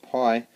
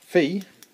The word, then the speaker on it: Phi: a sidet track that is you call it Pi but it's actually pronounced P I did a little bit of